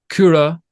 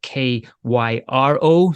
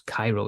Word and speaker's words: Kura: talking about with Kura, it's Kyro. So it looks like, well, I don't know what it looks. Cairo, yeah, I suppose it looks like Cairo instead of Kura. But obviously being Finnish, that's the way they pronounce it.